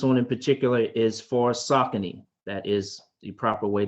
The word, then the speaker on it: Saucony: So this one in particular is for Saucony.